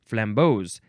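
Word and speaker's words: flambeaux: so it's flambos or you can spell it with an S instead of an X and it's pronounced the same way flambos it is a flaming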